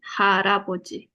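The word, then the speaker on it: 할아버지: Nah, si R ini naik ke atas. Ininya hilang, R-nya naik ke atas. Jadi bacanya H, L-nya yang di bawah naik ke atas. L, lalu vokalnya A. Ini. Ya, jadi harapoji.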